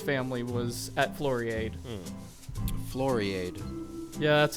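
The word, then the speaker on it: Floriade: the Steve Irwin's family was at Florrie ade Florrie ade yeah that's how they pronounce it there's live comedy shows and they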